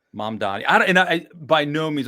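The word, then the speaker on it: Mamdani: Is it Mom, M-U-M? Don, it's I'm Mom? oh boy, I'm Mom Donnie? 98% certain it's Mom Donnie. Mom Donnie.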